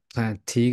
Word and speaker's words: Plantiga: So I know you're involved with like plantiga. Am I pronouncing it right?